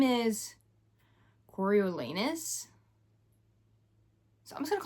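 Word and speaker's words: Coriolanus: His name it is pronounced I always just want to call him Cornelius.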